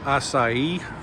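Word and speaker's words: açaí: That is called acai.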